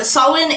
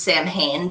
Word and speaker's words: Samhain: you um so um sawwin is um commonly mispronounced as samhain because that is how it's spelled in language does that